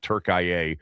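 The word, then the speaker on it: Türkiye: Turkey despite some people pronouncing it Turkia, which maybe they're right and I'm wrong.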